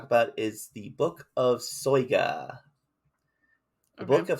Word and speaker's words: Soyga: So the first book we're going to talk about is the Book of Soyga. The Book of Soyga, and yes, that is pronunciation.